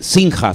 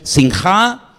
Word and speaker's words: sinjá: Generalmente las palabras en hebreo, salvo excepciones, se suelen acentuar al final de la última sílaba. No es sinja, sino es sinjá, guilá y sazón.